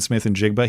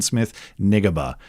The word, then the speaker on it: Smith-Njigba: Super Bowl because he he pronounced the name of NFL wide receiver Jackson Smith-Njigba. He called him Jackson Smith-Nigeba.